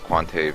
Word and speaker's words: Quanter: Although they changed all the spelling to say Quanter with that most recent patch, but I believe they still pronounce it as Quantave in the game, so I guess spelling doesn't really matter when the pronunciation is different.